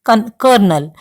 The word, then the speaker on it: Colonel: It should be pronounced as Colonel.